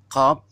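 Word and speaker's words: ق: Lihat di sini ya, yaitu qaf, cuma satu huruf. Qaf, pangkal lidah. Ya. Qaf, qaf, qaf. Itu cara bacanya diulang-ulang ya.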